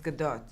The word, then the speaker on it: Gadot: Because you pronounce the T but in a very soft way, so it's Gadot. Gadot.